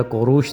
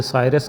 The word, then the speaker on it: کوروش: اختیار کر لی ہیں۔ سائرس کا اصلی نام گورت یا کوروش تھا، جیسا کہ دارا کے کتبہ سے معلوم ہوتا ہے، لیکن یونانی اسے سائرس کہنے لگے اور یہودیوں نے اس کا تلفظ خورس کی شکل میں کیا۔ چنانچہ یسایہ، ارمیہ اور